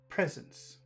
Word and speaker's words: presence: which word is important presence where's the accent presence it's in the first syllable let's make it extra